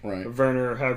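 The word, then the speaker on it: Werner: ver wner herzog's back verer if you want to pronounce it with the German V and he's just an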